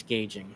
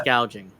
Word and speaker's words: gouging: But yeah, by the way, Kamala, it's not price gauging. Let's Price gauging on no, food. it's price gouging.